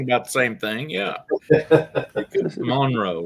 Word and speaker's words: Monroe: I'm about 45 minutes Monro that's Monro not mon the only thing is